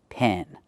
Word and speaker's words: pen: Pen. Use the short e sound like eggs and red and 10.